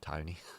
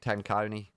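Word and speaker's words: Tenconi: Nick Tony. Oh dear, he does get his name mispronounced a lot. I think that's probably the worst. Nick Tony. I like Nick Tanconi.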